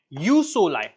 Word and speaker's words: jus soli: One is jus soli. This is referred to as or pronounced as you, not juice.